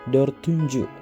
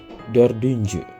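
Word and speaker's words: dördüncü: berubah jadi huruf d Jadi bukan dorunju tapi d dordunju gitu ya teman-teman kemudian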